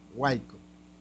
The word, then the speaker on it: huaico: Pero huaico, la penúltima sílaba pronunciada.